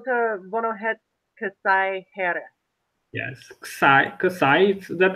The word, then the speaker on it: kësaj: Yes, kësaj, it's not pronounced, kësaj here.